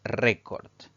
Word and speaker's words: récord: La siguiente palabra es récord. Esta palabra tiene 2 sílabas. La mayor intensidad, la mayor fuerza de voz recae en la penúltima sílaba contando derecha e izquierda.